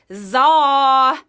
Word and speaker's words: Tsar: The supreme ruler with a silent T, it was Tsar.